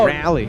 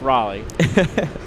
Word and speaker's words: Raleigh: I don't know Captain you say rally no don't get me wrong here I'm not like devoted to Raleigh North Carolina or anything but it's Raleigh wait say it again